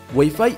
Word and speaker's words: Wi-Fi: transmisión de datos y a diferencia de lo que la gran mayoría de las personas cree su pronunciación es wi-fi precisamente por los vocablos que los conforman número 11 pato Donald